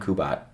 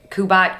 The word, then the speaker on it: Kubat: if you google kubat my channel will pop up immediately why do you think you pronounce kubot kubot and your brother pronounces it kubat i don't know is